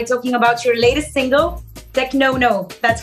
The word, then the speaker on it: Technono: to start by talking about your latest single tech no no that's how you pronounce it right yeah something like this yeah